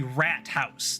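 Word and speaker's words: Rathaus: port house the like it's actually rat house that is literally how they say it is rat house everything we need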